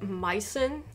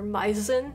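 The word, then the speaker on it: Meißen: something i'm not sure is a special german letter designating the sharp s or sc so it would be pronounced mycen or meisen is that right mizen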